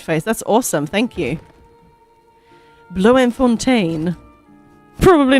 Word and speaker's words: Bloemfontein: The Bloem is pronounced Bloom. Bloemfontein.